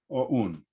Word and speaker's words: OUN: Both of these are known by their initials, OUN, but I always say it like we do in Ukraine, OUN.